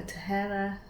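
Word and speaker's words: Tahereh: which is this Furthermore by, I believe it's Tahara. I did watch a video of hers on how to pronounce her name. So Tahera Mafi.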